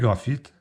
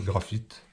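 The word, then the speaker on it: Graph'It: Et j'aime bien aussi les graphites.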